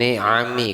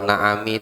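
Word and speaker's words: نِعَمِ: Wathani ilzami Bin ni'ami, kalau na'ami itu hewan ternak. bin na'am. Apa bilang situ? Fathah atau kasroh? Hah? Pakai kasroh, bin ni'ami.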